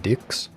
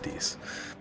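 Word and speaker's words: dix: In French, 10 translates to dicks. Like everyone to repeat that after me. Dicks. I believe it's pronounced dis.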